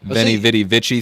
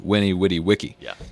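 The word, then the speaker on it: veni, vidi, vici: yeah you hear the benny vidi vichy thing for kane saw conquer they also said these were w's so it's supposed to be winnie witty wiki who wants to say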